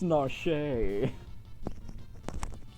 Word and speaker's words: Narshe: I mean, hey, at least you got Narsh right. How the It's Narshe.